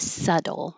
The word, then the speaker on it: subtle: and we started with subtle. This is one that looks very different than how it sounds. There's no B sound at all and the T changes to a D.